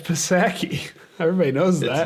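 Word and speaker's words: Psaki: i don't know if i know how to pronounce her name it's set it's pasaki everybody knows that it's jen pasaki definitely is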